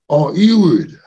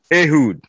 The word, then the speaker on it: Ehud: Let me go to Ewood, Rabba. That name is biblical, is spiritual. Means a lot. Thank you so much. I'm so sorry for messing. Religious, yes. That name is pronounced Ehud.